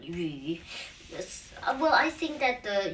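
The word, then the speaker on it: 项羽: Liu Bang will be pronounced in Chinese like Liu Bang, and in Xiang Wu, it's the saying would be like this. 项羽, not Wu, but Yu.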